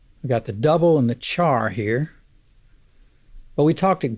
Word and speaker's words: char: values whose type is char by the way i pronounce CH AR char but care is also an equally acceptable pronunciation since it's short for character and speaking of putting